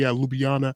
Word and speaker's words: Ljubljana: We talked off of the air, you being from Slovenia, and you helped hmm me pronounce the capital city, Ljubljana, hmm correctly.